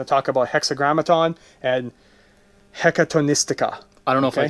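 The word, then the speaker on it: Hekatonystika: Scions of the Hexagrammaton and Scions of the Hecatonistica. Did I say that right? I think you said that right. That's pretty good pronunciation.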